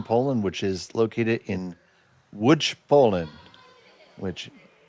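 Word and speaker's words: Łódź: which is located in Wood, Poland, which if you look at the spelling, it says L O DZ. It is pronounced wood.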